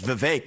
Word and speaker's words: Vivek: his head around say my name's Vivek it rhymes with cake you know what else